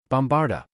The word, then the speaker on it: Bombarda: Bombarda. Harry said, careful to put the accent on the third syllable in the incantation as opposed to the second where it was supposed to go while silently casting